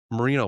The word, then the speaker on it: merino: Merino wool. Like Dan Marino?